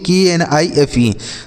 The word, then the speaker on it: knife: तो देखिए के और यन अगर एक साथ लिखे रहें तो यह के साइलेंट होता है। क्या होता है साइलेंट सर? के साइलेंट होता है। इस यन को पढ़ेंगे, लेकिन यह जो के होगा इसको नहीं पढ़ा जाएगा।